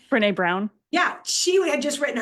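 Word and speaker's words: Brené Brown: Brene Brown.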